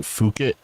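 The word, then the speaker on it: Phuket: not get to enjoy how how do you pronounce it fukit f fuk because IAT yeah because I know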